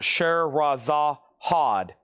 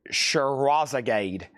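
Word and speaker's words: Scheherazade: So did Danny Da Oo, Steven Parton on Reflex, Mike Pierce on Renaissance Details, the one that's pronounced Sher Raza Hod and Other Stories. I've always said Sherzagade.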